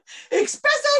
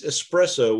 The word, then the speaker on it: espresso: you name your doggett expresso come here also the way you're pronounced it's espresso without an ex don't drink coffee which